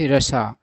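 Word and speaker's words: Russia: Ties मतलब संबंध with रशा, इसको लोग रशिया पढ़ते हैं, सही उच्चारण होता है रशा।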